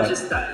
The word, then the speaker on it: MajestEYE: Le nom, j'ai du mal à le prononcer, Majestai, si je prononce bien, c'est ça. Majestai, voilà.